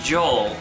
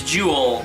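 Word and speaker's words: Joule: is you play as Joel Jewel Jewel I always have a problem it's it's spelled j o u l e I always have a problem saying that saying that name so it's juel so Joel from The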